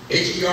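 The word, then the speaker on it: H.E.R.: Even that girl, her, I think that's how you say it. H-E-R, I don't know what that means, but we say her.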